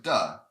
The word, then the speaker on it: 地: land dirt sometimes so the but here it's pronounced duh and this when it's used to as a